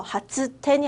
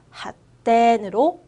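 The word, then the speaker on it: 発展: 작은 쯔로 변해서 하츠텐이 아니라 핫텐으로 변할 거예요.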